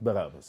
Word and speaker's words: Barabbas: Barabbas.